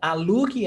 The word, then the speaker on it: alugue: Linda, alugue essa casa. It's like in order. Alugue essa casa, imperative. You don't pronounce the U.